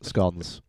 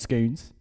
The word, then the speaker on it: scone: snacks SC sorry SC scones scon what's the pronunciation scon not scones I'm not the queen castle castle castle good